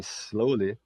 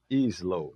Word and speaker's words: slowly: Observe que em slowly, slow, já vem do adjetivo, a palavra começa no som do s, né? Não tem i. Não é is slow, né? Slowly começa no.